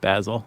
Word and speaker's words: Basil: I'm so pleased that you said Basil. Instead of Basil?